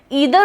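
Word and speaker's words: either: ईदर और तो हम सब ने पढ़ा हुआ है, ईदर और नीदर नॉर, इसका प्रोनाउंसिएशन आइदर और नाइदर नॉर भी हो सकता है।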